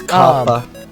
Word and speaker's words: COPPA: But before the COPPA laws, I think is how you say it, the COPPA laws, COPPA. It's COPPA. Because it's 2 P's, PPA. Okay. Yes, it's PPA.